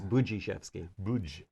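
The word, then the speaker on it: Budziszewski: was gonna ask that it's boujee chef's game right yeah it's hard to look at the d and you want to say buddhism but it's it's buchishevsky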